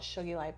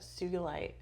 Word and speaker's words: sugilite: I'm sure I'm not saying it right, but it's called, I want to call it shugilite, but sugilite. Shungite? No, not shungite. It's Sugilite.